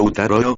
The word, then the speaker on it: Ataru: cuarto también conocida como ataru pronunciado utaro o la forma de